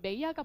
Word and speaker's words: mayor: 그래서 영국식 발음들과 좀 친해지셔야 됩니다. 제가 지금 여기다가 메이야라고 써놨는데 메이야가 뭐게요?